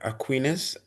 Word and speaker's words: Aquinas: Aquinus.